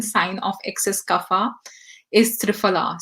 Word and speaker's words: triphala: of excess kapha is triphala so triphala or triphala as the indian pronunciation is is a combination